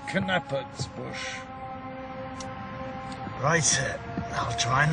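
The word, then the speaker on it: Knappertsbusch: by the name of nathan's bush thou art a man of taste keep it up incidentally we pronounce it cannabis bush write it i'll try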